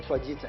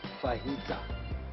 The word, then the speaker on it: fajita: So instead of somebody saying fajita, it's not fajita, it's fajita. Okay? It's an H.